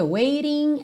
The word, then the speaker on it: waiting: Então, olha, todos esses T's aí do ING, waiting, anticipating, hesitating, estão com rarará na música.